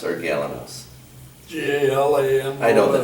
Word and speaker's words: Galanos: Would it be pronounced Galanos or Galanos?